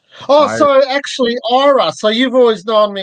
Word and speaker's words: IRa: How do you pronounce the IRA? IRA. Oh, I so actually, IRA.